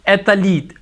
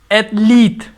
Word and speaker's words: athlete: The second word is most commonly that most of the people pronounce it athlete. It should be pronounced athlete. Athlete. There should be, we can say, double E, athlete.